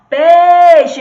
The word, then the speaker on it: peixe: E qual dessas duas sílabas que a gente tem aqui é a tônica? É a que a gente pronuncia com mais força. Ó, se a gente fosse chamar, a gente ia chamar assim, ó. Peixe, vem aqui, peixe. E aí? Qual é que se prolonga? É o pei.